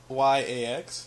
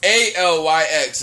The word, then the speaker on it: ALYX: I don't know how to pronounce that. But LYAX? Yeah, it's ALYX.